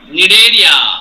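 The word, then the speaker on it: Cnidaria: यस सर, वो second वाला का सी साइलेंट है। निडेरिया, निडेरिया है।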